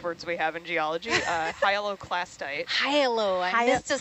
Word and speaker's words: hyaloclastite: Hyaloclastite. Hyalo. I missed a syllable.